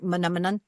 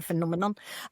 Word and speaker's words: phenomenon: phenomenon, because a phenomenon, let's say channeling the Muppet song, it's like phenomenon. If you can do that, you can go phenomenon, and it helps you remember how to say it.